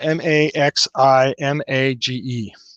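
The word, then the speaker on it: Maximage: i believe it's it's it's supposed to be pronounced maximum or not maximum but maxim mage uh m a x i m a g e maxim age that's how you pronounce it some of the times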